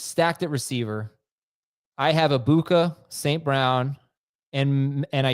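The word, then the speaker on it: Egbuka: I'm not saying the G. I'm saying it right.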